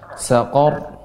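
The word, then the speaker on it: سقر: Kalau seperti huruf qaf tebal. Qor, saqor. Nah, demikian.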